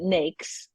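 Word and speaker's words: NAICS: uh yeah so uh people pronounce that a thousand different ways but I pronounce it nakes and a lot of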